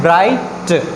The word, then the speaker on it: bright: Next हमारे पास example है ब्राइट, BRIGHT। यहाँ पे भी इसको हम क्या पढ़ें? ब्राइट। G और H जो है वो दोनों यहाँ पे क्या है? साइलेंट लेटर्स हैं।